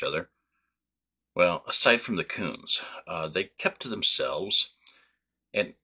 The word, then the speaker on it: Kunz: I'm going to pronounce this family's name as Kunz, K-U-N-Z. This is the most common pronunciation that I have heard.